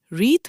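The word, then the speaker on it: wreath: Reads, রিথ মানে পুষ্পস্তবক, অর্থাৎ ফুল দিয়ে সাজানো মালা বা স্তবক। এই ওয়ার্ডটা ইম্পর্টেন্ট, স্পেলিংটাও খেয়াল করো। ডাব্লিউ দিয়ে শুরু, কিন্তু ডাব্লিউ এর উচ্চারণ হয় না।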